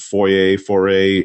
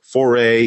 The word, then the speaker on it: foray: have launched their first foyer for a into i said it wrong there foray into uh advertising with